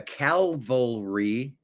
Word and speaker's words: cavalry: The cavalry. I'm sorry. The cavalry. Why did I add an extra? The cav cavalry. Like cavaliers. I guess it's misspelled is calalry. That's why I said it wrong.